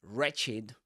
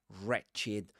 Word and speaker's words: wretched: wretched we mentioned that words beginning with w in English I mean these words you don't pronounce the the w you don't say wretch